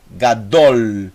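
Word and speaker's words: גדול: o gráfico eu tenho o gimel som de g mais a essa é a primeira sílaba e a segunda sílaba são duas sílabas apenas é o dalet mais o rolv mais o l o l então eu tenho gadol gadol gadol quer dizer grande você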